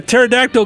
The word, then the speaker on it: pterodactyl: Why can't you hear a pterodactyl going number 1? I don't know. Because the P is silent.